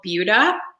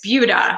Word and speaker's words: Buda: different area it's called buda it's spelled like buddha but it is buda so if you're from here you'll know it's buda um and this is